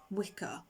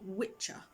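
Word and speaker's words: Wicca: and beliefs that pre-date wicker which we are all technically pronouncing wrong it's an old english term that's actually supposed to be pronounced witcher if it's got an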